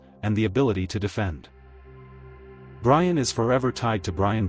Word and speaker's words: Brian: Number six, Brian. Pronounced b r e e n.